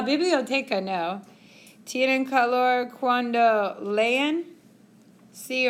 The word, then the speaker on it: leen: And in Spanish, you pronounce every single sound.